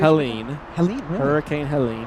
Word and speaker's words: Helene: Helene. Helene, really? Hurricane Helene. I thought it was Helen. Helene. Okay. Yeah. I think that's just because it has the E on the end there.